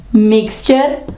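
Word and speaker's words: mixture: puncture फर्नीचर फ्यूचर मिक्सचर और puncture ठीक है यहां पे ये जो है वो फिर चे की आवाज देगा जी दोस्तों अब पढ़ते हैं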